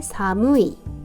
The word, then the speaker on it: 寒い: 주면이 아이가 오한에 해당하는 말로 일본 발음도 비슷해요 칸이라고 읽어요 자 그러면 같이 읽어 볼게요 춥다 사무이 한대 간타이 온데 온타이 그다음에 한기의 카키 추위를